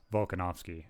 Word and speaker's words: Volkanovski: love Volkanovski. I think I'm pronouncing his name right.